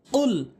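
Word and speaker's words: قل: আমরা অধিকাংশ লোক কুল আউযু বলি, কুল আউযু বিরব্বিন নাস বলি, কুল বলতে হবে, কুল।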